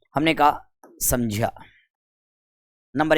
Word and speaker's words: संज्ञा: तो इसका शुद्ध उच्चारण करें, ये ज है, तो इसे क्या बोलेंगे अपन? संज्ञा बोलेंगे। क्या बोलेंगे दोस्तों? संज्ञा।